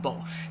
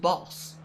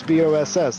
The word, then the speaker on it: Bosch: Bosch who was in the last race has actually come in and said uh he's not German so his name isn't pronounced Bosch it's pronounced boss like like boss bos ss like that.